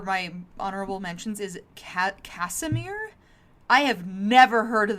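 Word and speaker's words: Casimir: And like uh also on this list for my honorable mentions is Ca Casemir. I have never heard of that name in my life. It's spelled C A S I M I R.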